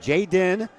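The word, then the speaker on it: Jaiden: So, I got the pronunciation from the coach. Jay Den is his first name and it's uh spelled J A I and then D E N.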